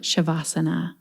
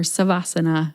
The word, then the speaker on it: Savasana: Indu Arora previously came on the podcast in episode 288 to talk about Shavasana or Savasana, depending how you pronounce it.